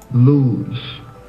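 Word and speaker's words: לוז: 3869, it's pronounced Luz. Can you hear that okay? Luz.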